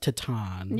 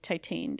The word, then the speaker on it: Titane: I think it's pronounced Titane. Yeah. It's a French film, so however you say T-I-T-A-N.